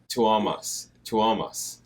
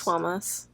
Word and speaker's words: Tuomas: Tuomas. Is that right? I think it's Tuomas. Yeah, I know that people have put it phonetically, but sometimes you have to hear it, you know.